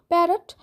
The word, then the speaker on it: parrot: আর টিয়া পাখির ইংলিশ তো তোমরা আগের দিনই শিখে গেছো, প্যারট। প্যারট এইভাবে উচ্চারণ করবে না, প্যারট, PARROT। যদিও বা দুটো আর আছে কিন্তু উচ্চারণটা কিন্তু একটা আরের মতোই হবে, PA রট, ROT রট, এইভাবে উচ্চারণটা হবে।